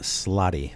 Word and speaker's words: Slaadi: Singular Slaad, plural Slaadi.